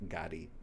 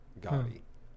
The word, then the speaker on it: Gotti: certificate is Gotti g a d pronounced Gotti goty yeah so you have two